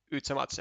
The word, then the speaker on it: yzemaze: I believe it's yzemaze, as in like German, as in like in German pronunciation.